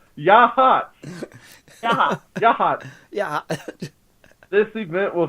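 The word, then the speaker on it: Yachats: This is in the town of Yachat, or Yahat. Pronounced Yahat.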